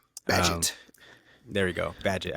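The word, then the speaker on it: Bagent: Badgett. There we go. Badgett. I always want to say Baguette. It's not Baguette.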